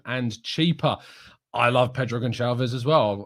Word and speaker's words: Gonçalves: I love Pedro Gonçalves as well. Or it is a soft C. It's not a hard C, I'm pretty sure, in Portuguese. So Pedro Gonçalves, yeah.